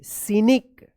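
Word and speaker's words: scenic: ji driving on अ एस सी ई एन आई सीनिक आर ओ ए D road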